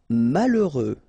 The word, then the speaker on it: malheureux: Malheureux. H doesn't exist, okay, so you get mal, heureux. Final X not pronounced.